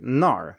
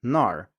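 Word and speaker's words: 那儿: So for example, in a word like nar, meaning there, nar, the A sound in na is slightly altered, so I don't say nar, I say nar, and there are various variations here among native speakers too, but you can hear that the vowel sound is very similar, it's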